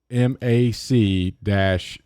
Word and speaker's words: McAfee: probably gonna have a commercial pronounce it mcafee pronounce it american macafee computer security software company headquartered in santa clara